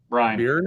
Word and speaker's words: Byrne: Byrne?